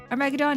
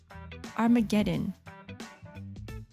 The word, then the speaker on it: Armageddon: Armageddon. Guys, I've been pronouncing it wrong this entire time. It's Armageddon. I told you? See, when I say Armageddon, it sounds like a freaking dinosaur.